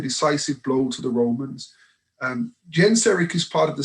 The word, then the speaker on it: Genseric: The ships of Chittim is a reference to a naval fleet that was commanded by a Vandal king whose name was Genseric. Some would pronounce it Geiseric.